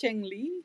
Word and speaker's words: cengli: Yeah, it's it's a Chinese it's a Chinese concept. Changi. Ah Chungli.